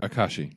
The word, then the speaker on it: Akashi: Is that, I don't know how to pronounce that. Akashi.